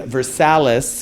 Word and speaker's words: Versailles: very expensive so I bought in versales which is Versailles but that's how they say it yes quote unquote so